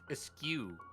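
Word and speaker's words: eschew: Fun fact, it's pronounced eskew.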